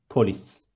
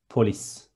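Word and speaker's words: polis: Next one, police is two short syllables, and there is S in the end, police. One more time, police.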